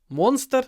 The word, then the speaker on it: monster: the party monster uh when you say monster try to make the M long and then the really short because it comes before an unvoiced s moner Mon Mon Mon not monster but mon moner moner a monster for